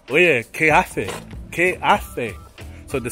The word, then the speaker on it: hace: So the T-H, when there's an E after the C, or an I after the C, it's pronounced like the English T-H. But in the rest of the world, it would be hace.